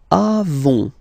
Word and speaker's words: avons: Then nous avons. Final S not pronounced. Avons.